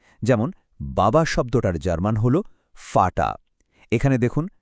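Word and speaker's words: Vater: যেমন বাবা শব্দটার জার্মান হলো ফাটা। এখানে দেখুন ভি এর উচ্চারণটা ফচ্ছে। চলুন একসাথে বলি ফাটা। আরেকবার ফাটা।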